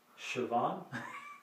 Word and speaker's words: Sivan: Sivan. That's how that's pronounced.